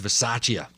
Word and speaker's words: Bisaccia: because I truly think that, how do you pronounce his name again? Rich Bisaccia. I think Rich Bisaccia is going to keep that job.